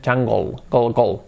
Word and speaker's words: jungle: Y estamos la palabra jungle, es jungle, pero la pronunciación es jungle. La E se cambia por la última consonante, por la L, y se pronuncia eso, jungle. Ocurre que el sonido L es tan fuerte, que se nos come el sonido de la E prácticamente.